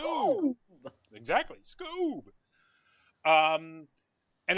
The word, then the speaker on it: Scoob!: You have to say it like that because it's got an exclamation point. Scoob. Scoob!